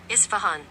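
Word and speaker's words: Isfahan: I have to It's pronounced this way. Isvahan. Isvahan. I was saying it right.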